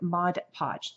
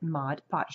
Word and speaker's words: Mod Podge: year is the new Mod Podge that's how you pronounce it Mod Podge not mod podge they do that all